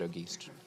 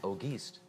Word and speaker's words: Auguste: That's how the French pronounce it. We pronounce it Auguste. Auguste.